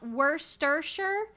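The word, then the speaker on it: Worcestershire: its name so true I'm pretty sure it's pronounced like worsters sure Worster sauce wor sure you said it right the first try where's the Shire what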